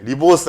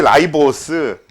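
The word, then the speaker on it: ribose: 딱 1년 사이에 리보스 아니고 라이브오스라고 배웁니다. 그래서 이제 디혹시 라이보스 라이보스 이렇게 배우더라고. 사실 영어 발음으로론 그게 맞거든. 음.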